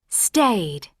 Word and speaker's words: stayed: Pronunciation. D, t, id. D. Stayed. So this is it. The first one, it is a stayed. Delete E sound, keep the D.